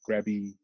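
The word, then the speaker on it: Krabi: spell it in thai in thai language it's more of a like a good like a g sound like grabby instead of krabby so like little things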